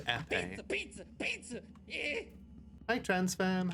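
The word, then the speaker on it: épée: It is pronounced epee.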